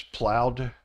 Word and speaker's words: plowed: sound and plow becomes plowed just like loud plowed dry becomes dried